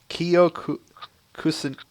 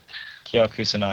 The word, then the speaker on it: Kyo Kusanagi: I hope I'm pronouncing this correctly, so forgive me if I pronounce it wrong. Kiyo Kusanagi. Kyo Kusanagi.